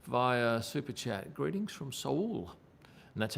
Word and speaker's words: Seoul: Greetings from Seoul. And that's how you pronounce it, Seoul, not Seoul.